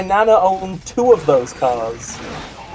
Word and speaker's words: Ka: owned two of those cars i don't know i think it's supposed to be pronounced car it's like pronounced it's like you know it's like a spelt car but it's like car ka i used to call